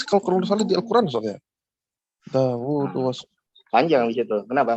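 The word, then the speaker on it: داود: Dawud was.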